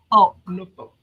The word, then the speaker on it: Norfolk: Do you pronounce the L? Norfolk. Kristen said Norfolk. Norfolk. Norfolk. Okay. So, you do pronounce it.